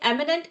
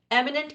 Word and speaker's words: एमिनेंट: Imminent, एमिनेंट almost same है बोलने में।